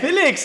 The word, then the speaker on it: Felix: Hey, Felix, hell yeah. He said Felix, yeah. That's how you say my name.